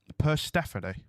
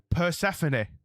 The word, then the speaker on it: Persephone: Persephone is pronounced... Persephone. Wait. With or the T? Without the T. Persephone.